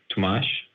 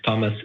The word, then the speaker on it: Tomas: so my my name I'm Portuguese my name is Tomas but if Thomas is easier for you that's fine no I wanted to